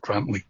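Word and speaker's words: Grandtully: It's spelt Grand Tully, but apparently it's pronounced Grantley.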